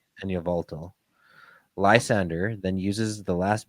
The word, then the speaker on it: Yveltal: Sorry, you're gonna have to help me with those pronunciations again. Xerneas and Yveltal. Xerneas and Yveltal.